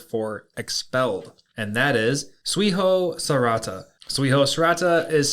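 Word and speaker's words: 追放された: Yeah, so today's Lance's Lessons is going to be the Japanese word for expelled, and that is Suiho Sarata. Suiho Sarata is spelt T-S-U-I-H-O-S-A-R-E-T-A.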